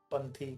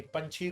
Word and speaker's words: पंथी: बड़ा हुआ तो क्या हुआ, जैसे पेड़ खजूर, पंथी को छाया नहीं, फल लागे बहुदूर। कई लोग इसका प्रोनाउंसिएशन थोड़ा गलत करते हैं कि पंछी को छाया नहीं।